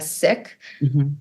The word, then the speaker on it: Sikh: called Sikhism or siki I am a sick it's not pronounced seek and Sikhism we're learning to decolonize language and and pronounce things properly and so the colonial pronunciation we are saying bye to and we are focusing on sick and sicism or sick my father